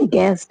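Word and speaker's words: guest: Next है गेस्ट। गेस्ट में भी क्या है? यू को साइलेंट किया गया है।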